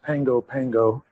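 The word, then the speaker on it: Pago Pago: It's spelled P A G O but it's pronounced Pango Pango.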